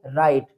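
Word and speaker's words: write: अगर कोई वर्ड अगर स्टार्ट होता है डब्ल्यू आर से तो उन वर्ड्स में डब्ल्यू लेटर साइलेंट रहेगा। जैसे डब्ल्यू आर आई टी इसको हम रीड करेंगे राइट। ठीक है? डब्ल्यू लेटर साइलेंट है।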